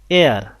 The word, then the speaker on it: heir: হি হ্যাজ অ্যান এয়ার, এয়ার নট হেয়ার, তো এখানে এইচ এর উচ্চারণটা হয়নি, এখানে একটা ভাওয়েল সাউন্ড আসছে, এই কারণে বসিয়েছি এন।